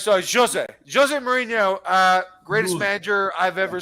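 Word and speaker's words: José: So it's Jose, not Jose. It's Jose. Actually, what is it? What is it? Jose Mourinho. That's how you say it in Portuguese.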